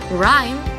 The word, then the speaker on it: rhyme: See how the word is spelled rhyme, but we say rhyme.